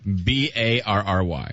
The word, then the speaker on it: Berry: B A R R Y. Barry. And his last name is Barry like strawberry.